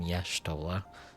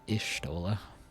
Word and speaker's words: Y'shtola: Oh, she's one of the only other voice actors other than Minfilia that pronounces her name Y'shtola. instead of Ishtola.